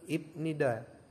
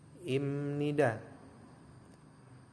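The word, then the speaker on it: 입니다: adalah ini dari tulisannya kalau misalkan teman-teman membaca dari tulisannya itu adalah ibnida ibnida ya apabila dia ee dikenakan hukum bacaan menjadi imnida nah pipnya ini kalau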